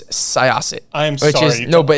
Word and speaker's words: Syosset: You grew up in Soyset? I just butchered Close that enough. Bad, didn't I? It's pronounced Syosset.